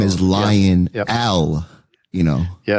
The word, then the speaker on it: Lionel: My name is Lion Al, you know. Yes. Oh, gotcha. And my name is spelled L I O N E L.